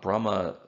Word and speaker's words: Brahma: difference between them grammatically brahma has a long a at the end it's a masculine ending in sanskrit so it implies interpreting